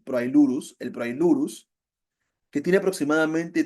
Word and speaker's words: Proailurus: Es el proirius. Proailurus, lo he pronunciado mal, disculpen. Proailurus.